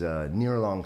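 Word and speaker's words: Ngerchelong: The very northern point of that is Nearlong State. Looks nothing like that phonetically. You'll never find it using the pronunciation, but there's some C's and H's and G's and, and some things in there, right?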